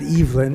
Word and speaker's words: Evelyn: Sir John Evelyn, and it's actually pronounced Evelyn. Evelyn, correct. For the people who care. I mean, I'm not sure it matters that much, and I'm not even sure if it's 2 syllables or 3, but the writer Evelyn Waugh, same pronunciation.